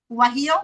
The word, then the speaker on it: Guajillo: I'm terrible with pronunciation. Not the ancho chilies. What are the other ones? Guajillo.